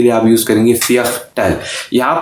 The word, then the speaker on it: Viertel: यहाँ पे एक बात ध्यान में रखिए कि इंग्लिश में जो V है वो जर्मन में V नहीं है, उसकी प्रोनाउंसिएशन फाव है, F की प्रोनाउंसिएशन आती है। जहाँ जहाँ V लिखा होता है वहाँ पे हम F साउंड में इसको प्रोनाउंस करते हैं।